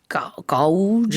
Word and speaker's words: gauge: 언뜻 봤을 때는 gauge Yeah, 이렇게 does not 발음이 look 될 like 것 gauge.